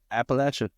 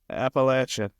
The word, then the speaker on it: Appalachia: the appalachin hell yeah you're saying it you're pronouncing it correctly apparently Appalachia Appalachia there's um there's a cool little building like